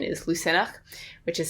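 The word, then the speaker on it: Lughnasadh: llamas is the christian name but the irish pronunciation is lucenach which is spelled differently so it's l u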